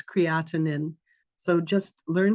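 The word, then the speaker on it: creatinine: letters count in healthcare or my creatin is out of line where it's creatinin so just learn how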